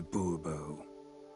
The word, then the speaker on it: Bobo: Bobo fine Monsieur de boobo the emphasis falls on the last syllable see now I'd rather